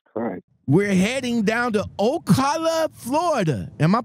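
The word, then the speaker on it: Ocala: rage accident Jesus Christ we're heading down to Okala Florida am I pronouncing that right because you're from Florida Okala right yeah all right it's yeah o Okala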